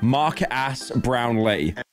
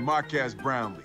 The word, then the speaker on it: Marques Brownlee: Not to be confused with how Will Smith pronounced him in YouTube Rewind, Marques Brownlee. Yeah, I definitely did not pronounce it like that. And Marques Brownlee.